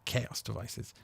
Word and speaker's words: Xaoc Devices: are chaos device modules or exo xaoc devices but pronounced as chaos devices when you turn these